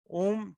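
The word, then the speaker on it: ॐ: और ओम का उच्चारण कैसे करना? ओम 3 शब्दों से बना है, अ उ म।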